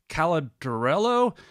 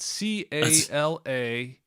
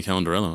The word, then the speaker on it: Calandrello: Fighters doc editor, and I'm going to mispronounce this, Tim Caladrello. And Justin, maybe you can help. How do you say that? Calandrello. Yeah, sounds like right to me, Calandrello, I guess.